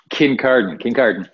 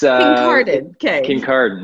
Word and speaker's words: Kincardine: I was, yeah, in a small town called Kincardine. What is it called? I tried to pronounce it and I couldn't for the life of me. Kincardine. It's Kincardine.